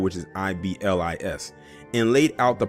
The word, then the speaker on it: Iblis: I told them Iblis was Arab American.